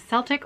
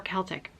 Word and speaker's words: Celtic: i was wondering yesterday about the pronunciation of celtic whether it was celtic or celtic and apparently both are correct so i'm going to